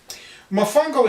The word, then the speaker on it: Mofongo: of my favorite dishes, Mofongo. I love the word. Oh, it's great. You pronounce it the same way as you spell it. Mofongo is a dish that